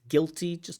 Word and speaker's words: guilty: That you is silent. It's not guilty, but guilty. I felt guilty.